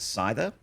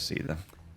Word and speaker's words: Seither: He also pronounces it Seither, which might be correct, but I played Final Fantasy VIII as a kid back in the late 90s, and I always thought it was Seither.